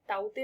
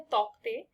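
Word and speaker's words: Tauktae: ताउते word का meaning होता है गेको, लिखते हैं तौकते, बट इसकी जो प्रोनाउंसिएशन है वो ताउते होती है।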